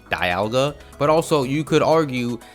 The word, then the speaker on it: Dialga: it D alga which is the way it's pronounced in all official Pokemon media Diga come forth Diga Dialga the master of time however it's very common to hear people also pronounce this as Dialga since dalga's name derives from the word diamond